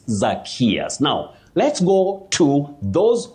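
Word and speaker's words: Zacchaeus: Wanjala Silas, and somebody called Oh, this name is very tricky, but you say Zachaeus, Zachaeus.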